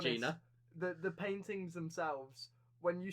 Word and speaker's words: Jena: In the anime, she is spelled Jena. In the manga, she is spelled Jina. So there's 2 spellings for her name, but it's still pronounced the same way, Gina.